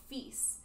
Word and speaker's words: Fis: For F sharp, I'm actually going to use a shorthand called FIS. It just makes it easier to say because it's only one syllable instead of saying two syllables.